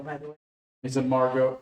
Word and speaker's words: Margot: that it's actually Feld yay yeah that's that's pronounced Margot by the way is it Margot m a r g o t Marco Okay